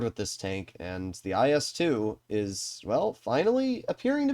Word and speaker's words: IS-2: playing in the Soviet tier 8 heavy the IS-2 which believe it or not is how Russians have told me it's pronounced. Not IS-2SH but the IS-2.